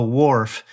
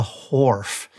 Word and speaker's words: Wharf: We call it the Wharf, and other people pronounce it the Wharf, but we actually don't make that H silent. We call it the Wharf, and we have the Southeast's largest, what is that thing?